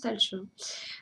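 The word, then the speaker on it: Tailtiu: Lou qui s'appelle talch alors ça sécrit taltiu je crois euh si on le prononce à la phonétique ça se prononce talch elle dispense leurs fruits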